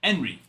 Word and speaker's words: Henry: In Spanish, you don't pronounce the H. The H is silent. So, it would be enri.